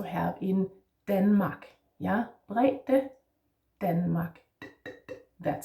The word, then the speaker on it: brede: Brede, this is a normal D, if you could say that. That is the one that you recognize from so many other languages. The one that you also have in Denmark.